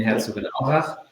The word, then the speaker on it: Herzogenaurach: our HQ location, so our headquarter location in Herzogenaurach. I know it's difficult to pronounce.